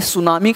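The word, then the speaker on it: tsunami: पी को ये देखना है, आपने सुनामी का नाम सुना होगा ना, तो वहाँ भी आपके लिए टी सुनामी, टी साइलेंट रहता है।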